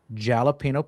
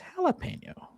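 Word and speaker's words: jalapeño: school would talk about jalapeno peppers and jalapeno flavored stuff. And then when I got into like high school, someone corrected me and said it was jalapeno.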